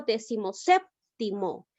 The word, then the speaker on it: decimoséptimo: Si digo decimoséptimo, en este caso me doy cuenta que la mayor fuerza de voz recae en la sílaba sep. Es una palabra esdrújula, por tal motivo la llego a tildar.